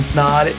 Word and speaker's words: Snod: My name is Snod. It rhymes with odd, and you're listening and watching another episode of the Rhymes with Odd podcast.